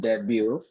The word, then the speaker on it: debut: B U T means debut T is silent.